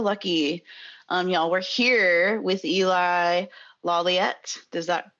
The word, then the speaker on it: Eli Lawliet: We're here with Eli Lawliet, is that correctly pronounced?